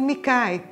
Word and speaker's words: MGKAI: Eu pronuncio Mikai, tá certo? Não, não tem uma coisa que seja uma única coisa certa.